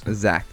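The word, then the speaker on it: Zaktan: Zactan. Let me I'm pretty sure this one is Oh, I'm not going to say because I want to verify. It is Zactan. Zactan.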